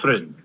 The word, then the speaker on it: Vin: like it's spelled v Vin like Vine Vin okay so will accompany